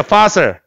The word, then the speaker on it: fossil: fossil. P 아니야. F 사운드야.